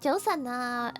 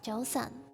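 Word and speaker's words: 早晨: But the proper way to say good morning is Joseon. Yeah. Joseon. If you pronounce it at a J, it's also okay, I think.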